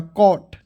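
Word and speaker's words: cot: देखिएगा सी से होता है दोस्तों क, ठीक है, सी से होता है क, और ओ आएगा तो उसको उच्चारण औ के रूप में, और टी से ट, तो क्या हो जाएगा कॉट। सी ओ टी क्या हो जाएगा दोस्तों कॉट।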